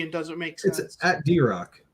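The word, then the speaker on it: Drokk: doesn't make sense at drock you just type in that drock it'll come right up yeah but it's spelled differently and it looks weird d-r-o-k-k it's all good yeah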